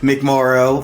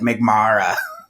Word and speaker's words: McMorrow: sure it was good I always tell people it rhymes with tomorrow you would be surprised